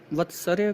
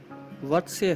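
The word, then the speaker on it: वर्त्स्य: कुछ लोग इसका उच्चारण वत्सर्य करते हैं, जो कि एक गलत उच्चारण है। इसका उच्चारण वत्स्य है। र का उच्चारण त और स से पहले किया जाएगा।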